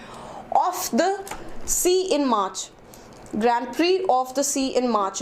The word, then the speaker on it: Grand Prix: will introduce the Indian grand okay this is pronounced as Grand Prix Prix okay not BRICS okay so and what is the meaning you